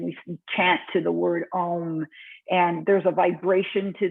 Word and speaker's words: Om: This is a really interesting, first of all, Om is actually 3 sounds, 3 syllables together, A, U, and M, A, O, M.